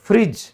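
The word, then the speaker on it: fridge: अब फ्रिज, फ्रिज में भी आपका डी के बाद जी आ गया तो हमारा डी साइलेंट हो गया।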